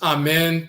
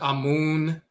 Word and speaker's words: Amen: our our website so this is amen they often mispronounce his name and misspell it Amon or Amon and so forth